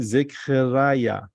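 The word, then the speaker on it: זכריה: This is Zain, this is Kuf, this is Resh, this is Yud, this is Hey. The right pronunciation, Zechariah. Zechariah in Hebrew means God remembers.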